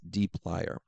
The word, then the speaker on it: dplyr: And one specifically that we want is dplyr. And that's how I pronounce it, at least. But it's dplyr.